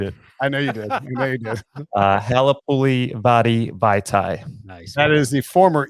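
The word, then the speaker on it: Halapoulivaati Vaitai: Halapuli Vadi Vaitai.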